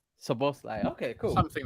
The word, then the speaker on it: Szoboszlai: Also, controversial question, but how do we pronounce this player's name? Because I'm like, Dominic Szoboszlai. Szoboszlai.